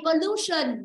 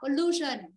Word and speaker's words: pollution: Đó, blue là rơi âm 2. Thì tương tự như vậy, pollution nó cũng rơi âm 2. Nó vì đuôi tion. Đó, pollution.